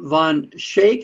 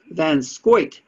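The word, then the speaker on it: van Schaick: fund that is what they're talking about john von shake i guess it's pronounced oh no i've got the pronunciation here is john van scoyt was born in new york state to a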